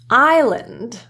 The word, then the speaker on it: island: Often SL produces a silent S, but there are others. Let's take a look. Island, aisle.